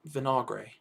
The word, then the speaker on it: Vinagre: their left wing back name how do you pronounce it i think reuben vinagra there you go vinagre there we go uh and samado on the